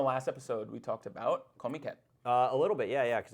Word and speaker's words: Comiket: What is Comiket from? Comiket, I think is how a lot of them pronounce it. So it's comic market.